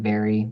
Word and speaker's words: VARI: the RGB route to generate an indice like Vary, VARI is how that's spelled.